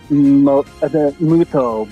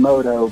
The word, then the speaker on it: Muto: Japanese pronounce it Muto, but in English it became Moto because that's just I easier love Four and more Kids.